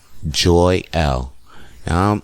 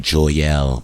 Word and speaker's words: Joyelle: It's Joy L. Now me seeing that name, I was like, I saw it together, so I'm saying Joyelle, but it's not that. It's Joy L.